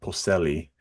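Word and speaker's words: Polselli: was given the role because ronado Peli uh Peli that's how you say it ronado Peli uh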